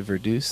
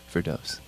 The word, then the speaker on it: Verdoes: say Vero like and then some people say Verdu is like the Dutch way and what do you say verdos all right it's verdos live on kex I know fears are all